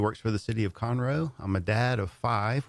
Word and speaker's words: Conroe: so I definitely like to say it right Conroe thank you for clarifying that for all the